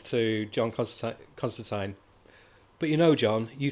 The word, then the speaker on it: Constantine: And I love how they address how Americans say John Constantine when it's Constantine.